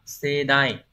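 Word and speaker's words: 盛大: Đọc là sedai.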